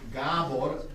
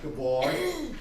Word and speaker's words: Gabor: And we say Gabor and not Gabor because the stress in Hungarian is always on the first syllable.